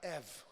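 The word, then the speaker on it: עת: testamento é a palavra EV EV EV escreve-se eth mas se pronuncia EV como se fosse EV EV EV é tempo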